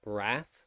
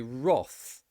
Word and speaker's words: wrath: um this one so in american english it would be um wrath with an a sound in british english it is not an r it's actually roth roth for some reason it has an o sound the other exception is